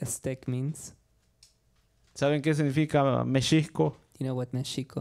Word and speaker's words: México: So even like people think we pronounce, we might tell like that it's not México, but Mexico.